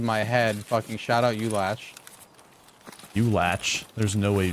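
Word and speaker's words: Ulach: Fucking shout out, U-Latch. U-Latch? There's no way you just said that. That's how you pronounce it. No, there's no way. U-Latch, bro? That's the proper pronunciation. U-Latch.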